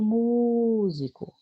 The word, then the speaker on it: músico: Por exemplo, olha o músico. Onde foi que eu segurei mais? Mu. Então, a sílaba tônica dela é mu.